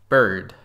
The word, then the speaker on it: bird: so we need to learn exactly how to pronounce this sound with the IR bird but not just with IR it's also with